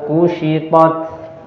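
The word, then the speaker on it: كشطت: Nah, wa idzas samaa'u kushitat. Wa idzas samaa'u kushitat. Wa idzas samaa'u kushitat. Huruf shin ya, diucapkan dengan menaikkan bagian tengah lidah, kushi ya.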